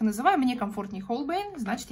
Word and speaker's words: Holbein: На русский язык, если перевести, то это Гольбейн, как наши многие блогеры произносят. А американцы и другие иностранные блогеры, я лично слышала в их роликах Holbein.